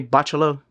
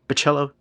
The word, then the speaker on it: Bachalo: Chris Bachello omnibus and if you don't like the way I say Bachelo Bachello you can blame my buddy Curtis he's the one that taught me how to pronounce it.